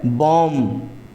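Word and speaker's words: bomb: नहीं किया जाएगा है ना जिस तरह से बम कॉम और थम यह तीनों शब्द में लास्ट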